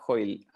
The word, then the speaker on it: Hoyl: Sí, me busca por Hoyle. Hoyle se escribe Hoyl, como hoy con una L, y ahí estoy en todas las redes sociales.